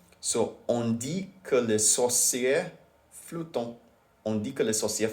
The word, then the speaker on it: flottent: So, on dit que les sorcières flottent. On dit que les sorcières flottent. This is a weird sentence. On dit que les sorcières flottent. On dit que les sorcières flottent. Yeah, you don't pronounce the T.